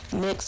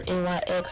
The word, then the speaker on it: NYX: And this liquid eyeliner is by NYX or NYX, however you want to pronounce it, and I really, really love this liquid eyeliner.